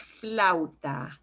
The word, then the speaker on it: flauta: for flute together so when you get two vowels together in spanish you will pronounce each vowel and they will kind of get slid together as much as possible as long as you don't see an accent mark there so it's flauta next we've got the